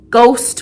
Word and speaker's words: ghost: So rap with the silent W, nat with the silent K, gnome with the silent G, ghost with the silent H, things like that.